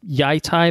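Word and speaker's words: Yi Ti: the Golden Empire of Yi-Ti, which is maybe pronounced Yai-Tai, but I'm pretty sure it's Yi-Ti based on that, which is a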